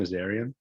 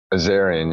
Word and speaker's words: Azarian: pronounce your last name azarian azarian yeah just like it's spelled nice yeah awesome yeah